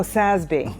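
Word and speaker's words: SASB: do you say them is it sby is that how you say it sby y oh ssby all right I'm learning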